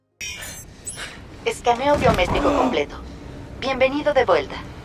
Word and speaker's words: escaneo: While this cognate is very similar to the English equivalent, scan, remember to pronounce the E at the start. It is not silent. You won't say scaneo, you will say escaneo.